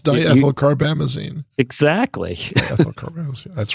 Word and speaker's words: diethylcarbamazine: So are you're going to make me pronounce that? Isn't that your thing? It is, actually. It's diethylcarbamazine.